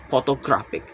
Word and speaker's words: photographic: The stress is on the third to last syllables, photographic.